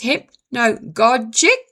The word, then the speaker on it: hypnagogic: It's pretty hard to pronounce, and I will try it again. It's hypnagogic.